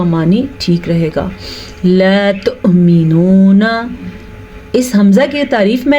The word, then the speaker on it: تؤمنون: جب واو کے اوپر حمزہ ہو جائے تو پھر حمزہ پڑھا جائے گا نہ کہ واو. تو مینونا پڑھنے سے آپ نے پرہیز کرنا ہے. یہ ہے مینونا، واو نہیں پڑھیں گے، اس کو ہم حمزہ کا ساکن جھٹکے کے ساتھ پڑھا جائے گا.